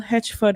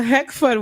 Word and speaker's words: Heckford: Joining us in studio, we have Corporal Hedgeford Woodley and I said it wrong? Heckford. Oh. Corporal Heckford Woodley.